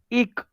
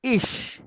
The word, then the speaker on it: Ich: Now there are two kinds of pronunciation. Ich k, ik, and ish, right? Ik and ish. Okay, so if you find this both the pronunciation both are correct, right? The people will say ish, or generally in some villages like Düsseldorf or like these villages, they are the pronunciation is like ik, right?